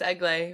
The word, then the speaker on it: Egle: to say her name yeah it's egg lay remember oh right we did